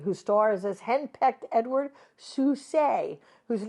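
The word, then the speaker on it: Sousé: Another turn for WC who stars as henpecked Edward Susay whose name is always mispronounced as Souse who exploits exploits everyone with his comic adventures as a substitute film director and the most unlikely bankard.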